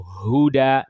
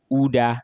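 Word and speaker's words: هدى: pronounce it properly and they pronounce it like amza most times. So Huda they may say uda instead of huda for example they may say which means they're pronouncing amza instead of ha.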